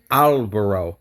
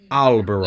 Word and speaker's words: albero: Albero. Yes, Okay. yes. And one more thing, don't change the O. Don't say like O, like in English would be O. Just like plain O.